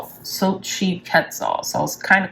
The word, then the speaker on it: Xochitl: So you pronounce her name Xochitl.